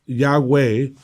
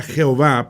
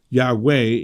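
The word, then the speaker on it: Yahweh: importantes por eso aún el nombre de dios que nosotros pronunciamos ya way antes era jehová pero se han dado cuenta de que eso era un error y hoy día es más conocido como huawei y esos adivinamos que eso es la manera correcta pero la verdad nadie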